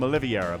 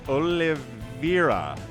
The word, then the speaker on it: Oliveira: of the map uh I keep calling him oliviera but it's olivira I think is how we pronounce this my brain is